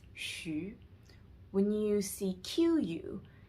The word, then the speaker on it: xu: So whenever you see XU, it's always pronounced as shu.